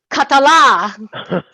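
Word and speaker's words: Català: 1, 2, 3, Catala. Okay, accent on the last day.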